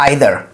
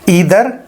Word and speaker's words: either: You haven't taken a bath today either और either दोनों कहे जा सकते हैं। इसका लॉजिक भी समझते हैं। देखो प्रोनाउंसिएशन क्या है, either और either दोनों प्रोनाउंसिएशन ठीक है, बस रीजन का डिफरेंस है।